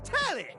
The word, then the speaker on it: Telly: The name's Telly. Rhymes with Nelly, like, whoa, Nelly!